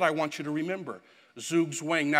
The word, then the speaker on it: Zugzwang: Now, if you speak German, you'll know that I'm speaking, pronouncing it absolutely wrong, but since it is now in the dictionary and it's now an English word, Zugzwang, it's appropriate for us to say that.